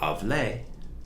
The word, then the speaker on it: hablé: If you change hablo to hablé, with the emphasis on hablé, like café, coffee, café, hablé, changing that O to the letter E, that accent mark, that's the past tense.